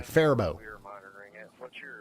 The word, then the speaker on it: Faribault: All right, nobody pronounces the I, I've been told. Okay, Faribault.